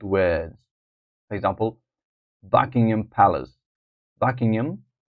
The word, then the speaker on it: Buckingham: a is asking us to underline the stressed syllable in the bold words for example Buckingham Palace Buckingham Buckingham Palace the back Palace is stressed the Westminster